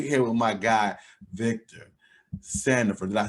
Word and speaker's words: Sandifer: uh so we're here with my guy victor sanderford did i say your last name right you